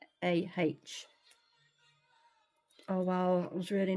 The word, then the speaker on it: Roda: But it is spelt Roda, so it's Rawdah.